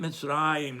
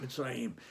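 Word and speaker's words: מצרים: Resh in order to teach you that you pronounce it Mitzrayim, not Mitzrayim.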